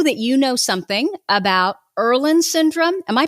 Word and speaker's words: Irlen: and i know that you know something about erlen syndrome am i pronouncing it right yup yup that's right um